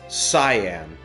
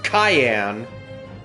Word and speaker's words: Cyan: Now, I know that by English standards that says cyan, did you know, fun fact, uh the character's original name in Japanese and how it's meant to be pronounced, cayenne, like the pepper.